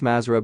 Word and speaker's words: Mathra: Black magicians of the Mathra altar pronounce mazra by the rosac crucians